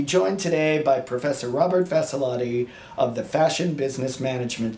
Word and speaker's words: Vassalotti: I'd also like to point out that you pronounced my name beautifully. Oh, why, thank you. Thank you so much, Vassalotti, yes.